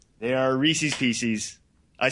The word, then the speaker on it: Reese's Pieces: Yeah, so as everybody knows, those are affectionately known, and I'm only going to say this once, Reese's Pieces. They are Reese's Pieces.